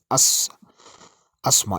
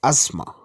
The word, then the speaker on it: asthma: So this word, people sometimes pronounce it as asthma. It's not asthma, it's asthma.